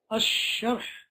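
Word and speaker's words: الشرح: Ash-sharh, over here, the sheen, this is the alif and lam, neither of them are read, are pronounced. Rather, you go straight to the sheen, and the reason for that is because this is a harf shamsi.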